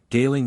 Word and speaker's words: Galing: Rhyming with thrice, Corineus rhymes with Flaminius, Galing with sailing, Lafarise with desire ease, Ch is always guttural, as in Locke.